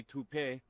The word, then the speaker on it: Toop: Maybe Toupee. Could be Toupee. Yeah, I don't know. Or Taupe Insurance, maybe? I don't think so. Say it right. That's T-O-O-P. That's Taupe. Oh, it's Taupe.